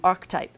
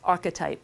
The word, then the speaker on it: archetype: And I kept saying archetype. He's like, no, it's archetype.